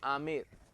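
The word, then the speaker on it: Amer: food आमिर food है यह spelling तो ए एम बी ए आर लिखी जाति है लेकिन प्रनंसीएशन आप करेंगे आमिर आमिर नहीं करते ठीक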